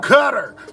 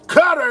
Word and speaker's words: Qatar: Cutter. Cutter is what they saying.